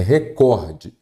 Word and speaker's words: recorde: como está escrito ali a pron correta dessa palavra é recorde Ah então quer dizer que a sílaba tônica é o cor isso mesmo como vocês podem observar aqui recorde então a cíl tônica é a penúltima eu tenho uma paroxítona